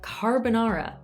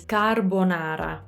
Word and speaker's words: carbonara: before okay next one i usually hear carbonara okay it's not that that voice crack it's not that like it is far but anyway it's not the worst one okay so this one is carbonara okay so if you take into account the things i've said so far ca that really open a ca carbonara so closed o